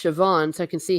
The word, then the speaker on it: Siobhan: Archer Collins says, well, Siobhan is pronounced Siobhan, so I can see how the sounds change.